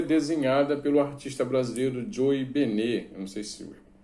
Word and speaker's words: Bennett: Eu não sei se tem gente que fala Benet ou Joey Bennett. Eu acho que está mais para ser Joey Bennett, mas me parece que numa entrevista que ele deu, ele fala que a pronúncia é Benet, Joey Benet.